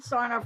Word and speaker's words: Sarnoff: that, your work with David Sarnoff do I pronounce his name right? The radio club, and I'm David assuming Sarnoff, yeah.